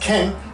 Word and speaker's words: 犬: Inu or dog but when it's pronounced in this combination it's pronounced Ken so m m m